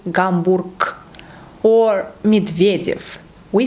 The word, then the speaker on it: Гамбург: First one, when it's located at the end of the word. For example, Гамбург, we say Гамбург, or Медведев, we say Медведев.